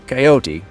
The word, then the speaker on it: coyote: One is to keep the e at the end silent and the other involves pronouncing the e which gives the word three syllables.